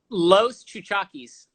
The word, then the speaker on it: Los Chuchaquis: pronounce it one more time how you would pronounce it lows cha cha keys okay let's do seven so it doesn't matter